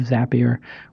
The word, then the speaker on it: Zapier: co-founder and CEO of zapier which makes people happier it's not their tagline but that's how you can remember how to say it and it's za p ier you can go to